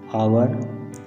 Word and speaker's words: hour: यूज़ एन with words that begin with a silent H. Examples, an hour, an honor, an honest man.